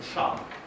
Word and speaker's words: char: Mais au Québec, c'est mon char. Hein, on prononce comme ça avec un grand A ouvert, mon char.